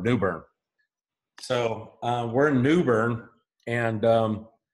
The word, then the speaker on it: New Bern: it's one word it's New Bern I'm trying to use two but they pronounce it as one word New Bern so we're New Bern